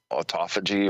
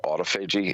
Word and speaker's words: autophagy: even fasting itself and you go into um autophagy or autophagy it's spelled a u t o p h a